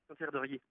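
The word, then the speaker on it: Saint-Hilaire-de-Riez: Ça se prononce comment? Saint-Hilaire de Riez.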